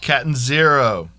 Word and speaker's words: Catanzaro: Catanzaro.